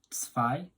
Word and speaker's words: zwei: 2 in German is zwei. Zwei. The Z here is a TS sound, the W is a V, and the I, obviously